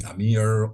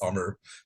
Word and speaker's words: Amr: But surprisingly, a lot of the non-Arabic speakers didn't know how to pronounce Amr. So they will call me Amir, Omar. So you're free to call me whatever you want, but Linda, you pronounce it perfectly, which is Amr in English.